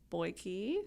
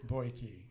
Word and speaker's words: Beuke: you go um Elizabeth say your last name boyi boyi Elizabeth boyi yep that's how you say it